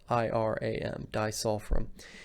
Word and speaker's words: disulfiram: from reaction with a few different meds disulfiram is spelled d-i-s-u-l-f-i-r-a-m disulfrim what this is is it's when you drink